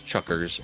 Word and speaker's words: Chukar: bird to the region the word chucker is pronounced roughly the